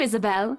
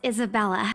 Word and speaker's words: Isabella: Hopefully you can help us out too, Isabel. Isabella. Right. It's a lovely name, Isabel. She has no idea how to pronounce people's names. She's a bitch. It's Isabella.